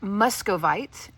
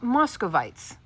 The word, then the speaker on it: Muscovite: So, I went to Professor Google and it is pronounced muscovite. I even listened to an audio of it.